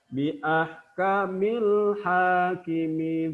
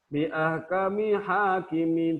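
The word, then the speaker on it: بأحكم الحاكمين: Bi ahkamil hakimin. Tidak boleh bacanya lamnya hilang misalnya. Bi ahkami hakimin, tidak. Bi ahkamil hakimin, alif lamnya jelas dibaca, makanya disebut izhar qamariyah.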